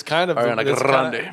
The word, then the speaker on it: Grande: Well, it's kind of Ariana Grande. It's kind of how you pronounce it, ain't? No, because there's can you roll your R's? You have to.